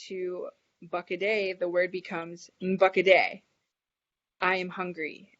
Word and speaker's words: Bakade: And the N is pretty, it's almost silent, and it kind of has like a little nasally sound. So you're not really pronouncing it as N like we would normally think in English.